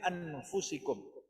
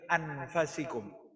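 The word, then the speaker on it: أنفسكم: Laqad ja'akum rasulun min anfusikum. Dari bangsa kamu sendiri, dari bangsa Arab. Abdullah bin Abbas dia membacanya, qiraatnya bukan min anfusikum tapi min anfasikum.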